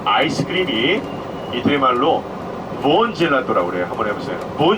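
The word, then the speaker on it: buon: 젤라또가 아이스크림이고 부온은 맛있는 딜리셔스 얘기하는데, 근데 한국 분들은 이게 부온을 빨리 발음하다 보니까 그게 본이 된 거예요. 부온 젤라또인데 부온 젤라또. 아시겠죠? 그래서 원래 부온이에요.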